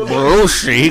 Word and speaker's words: Belushi: David Belushi. Nigga said Belushi. Three syllable name.